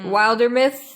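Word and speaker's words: Wildermyth: and it's called uh wilder myth some people pronounce it wilder myths the devs don't care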